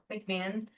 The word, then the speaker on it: McMahon: McMahon.